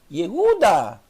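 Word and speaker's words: יהודה: Yud com o Sheva. Aqui é a primeira vogal. Bem rápida, por causa do Sheva. A segunda vogal, perdão, a segunda sílaba, a primeira sílaba, segunda sílaba é o Re mais o U do Shurek. O Vav passou a ter som de U. Então, Ihu, e a última são 3 sílabas. O Dalet mais o A. Yehuda.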